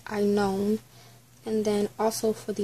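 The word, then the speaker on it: Aenon: So I was saying it wrong, it's not even Anon, it's I known.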